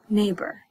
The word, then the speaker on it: neighbor: are my neighbor right neighbor so e i g h sounds like long a it's crazy all right good job that was tricky 18.